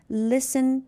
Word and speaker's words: listen: Listen, T is silent.